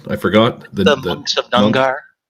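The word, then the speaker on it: Knujr: The monks of Nungar. It's a K-N-U-J-R. The K is silent.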